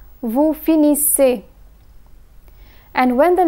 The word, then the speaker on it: finissez: EZ is pronounced as A. Vous finissez.